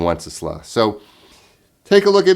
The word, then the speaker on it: Wenceslas: it is the title it's good king wenceslas good king wenceslas i hear a lot of different pronunciations but i'm pretty sure that's the pronunciation of this folk song good king once isla so take a look